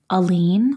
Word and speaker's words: Alene: that I usually say a lean like one single lean back like a lean versus two leans or three lean yeah